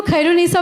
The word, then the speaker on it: खैरुन्निसा: So इतनी सादगी से मैम ने बोला, रुचि खैरियत बोलो, so automatically तुमको खैरुन्निसा बोलना आ जाएगा. So that's the best part about her, that this is how you have to pronounce the name.